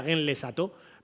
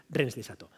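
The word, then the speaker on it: Rennes-le-Château: SAT a su pueblo en realidad la pronunciación sería Gen les SAT Pero bueno por no parecer un poco repipi vamos a llamarlo como lo conocemos todos los españoles que es rens lesato así que sonier regresa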